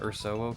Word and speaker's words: Ursowo: You know, I think I got a hint from your bear badge. That kind of made me want to pronounce it like Ursa or Ursus. Ah! Urso is Portuguese for bear, and I'm a bear VTuber.